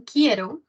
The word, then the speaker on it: quiero: Tenemos la primera oración, quiero, ¿no? Que cuidado con esta U, tener cuidado, no suena.